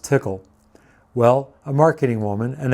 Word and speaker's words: Tcl: noticed i keep saying tcl when all of you know it's pronounced tickle well a marketing woman